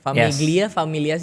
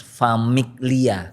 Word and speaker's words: Famiglia: Familia sih bacanya. Nah, jadi sebenarnya Elders Famiglia.